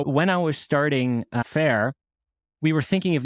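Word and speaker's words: faiyr: we were like oh Fair that's cool but the problem is that people pronounce it like fire and that was a real problem I must say but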